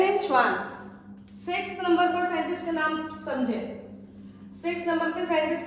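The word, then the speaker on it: Schwann: बच्चों प्लीज इसको याद कीजिए, 2 साइंटिस्ट हैं, नाम याद करेंगे ऐसे, स्लाइडेन एंड श्वान। मेरे साथ प्रोनाउंस करो, ठीक है? स्लाइडेन एंड श्वान, ये इन्होंने दिया।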